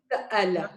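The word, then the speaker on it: سأل: Sa'ala. Yeah, this stop. Sa'ala. Sa'ala. If there was no Hamza here, you would read it as Sala, right? Sala. The Hamza, make sure you stop in the middle.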